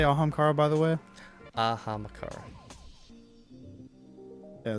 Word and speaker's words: Ahamkara: Ahamakara.